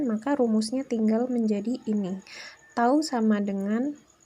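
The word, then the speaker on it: τ: it kayak semacam huruf Yunani gitu ya jadi bacanya itu tahu itu kalau dirumuskan adalah gaya di kali jarak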